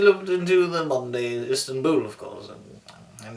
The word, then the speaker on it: Istanbul: into the modern day Istanbul, of course, And it's actually the correct pronunciation is Istanbul, not Istanbul, but it's actually Istanbul, which means the ruler of the city of the star.